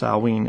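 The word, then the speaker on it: Samhain: was originally called salween spelled s-a-m-h-a-i-n but it's pronounced salween it's the druids were the ones that basically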